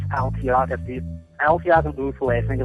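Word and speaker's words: Ulthwé: In Retribution, they pronounce Uthwe, and yeah, it's Uthwe.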